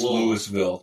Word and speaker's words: Louisville: It's Louisville. But it's LOL. If you don't, it's Lewisville. Yeah. So, I have a I have a good friend sometimes. I call LOL. Lolville. It's one syllable if you live there.